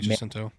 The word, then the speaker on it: Jacinto: I heard Stenberg and Jacinto. Is that how you pronounce his name? Yeah, Manny Jacinto.